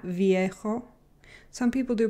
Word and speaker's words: viejo: So the V in Spanish is not typically very strong, like not viejo. Some people do pronounce it like that, but mostly it's almost indistinguishable from a B.